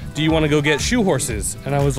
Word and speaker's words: churros: Shoe horse apparently is how you say that when you're from Rio, cariocas.